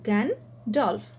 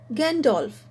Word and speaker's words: Gandalf: gandalf this is one word which is made up of two syllables gan dolph so the pronunciation is gandolf tron t-h-r-o-n-g the pronunciation